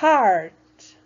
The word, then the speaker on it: heart: vez tinha um i heart lembra que o h tem som de R então Heart E mais uma vez